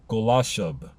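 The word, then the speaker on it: Golachab: Pronounced, I believe, Golashub.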